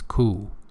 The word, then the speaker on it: coup: So pay attention, P here is not pronounced, it's coup.